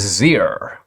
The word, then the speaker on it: xyr: And that is, there's XZ, which is apparently Z, pronounced like a Z, or XYR, which is Zir.